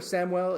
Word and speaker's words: Samuel: Technically technically it's Samuel because that's like the Spanish pronunciation, but in America we go by Samuel most most of the time.